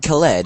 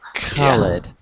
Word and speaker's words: Khaled: Yeah, the Khaled. Yes, it's K and H in Arabic, always pronounced like that.